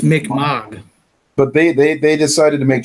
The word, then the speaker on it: Mi'kmaq: I mean, they don't, like, blow up the Micmac burial ground at the end of the second one or anything. Like, I don't know why. I'm guessing because of it's pronounced Mi'kmaq.